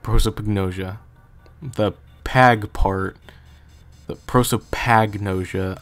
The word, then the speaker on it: prosopagnosia: pretty likely scenario also I hope I'm not pronouncing prosopagnosia weird because I remember from the Remake it's like prosopagnosia and so when I say it quickly it's like prosopagnosia the pag part the prosopagnosia I say that